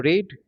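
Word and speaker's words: read: এটার বানানটা একই থাকবে। স্পেলিংটা একই কিন্তু প্রনান্সিয়েশনটা ডিফারেন্ট হবে। কেমন? রিড রেড রেড।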